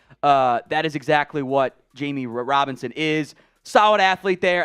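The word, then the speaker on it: Jammie: overall uh Jamie Robinson I know it's spelled like jammy it's actually it is actually pronounced Jamie I like from that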